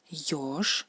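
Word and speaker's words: ёж: Yosh, al principio de la palabra, es yosh, ¿no? Se lee como yo española, yosh, erizo.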